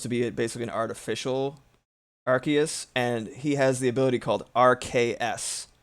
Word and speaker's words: Arceus: I think it's Arceus because Arcane and Deus, and the main thing